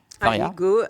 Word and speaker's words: Faria: Est-ce que j'ai bien prononcé votre nom ? Faria.